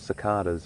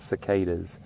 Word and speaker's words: cicada: That, or they, are an insect called cicadas, or some people pronounce it cicadas.